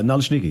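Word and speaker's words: naleśniki: Maybe Antoine, you can tell me what a Nalashniki is. Am I pronouncing that right? Yes. Uh Nalashnneiki.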